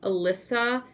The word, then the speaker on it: Elyssa: It's I believe it's pronounced Elyssa Dress by Tyga Hilliard.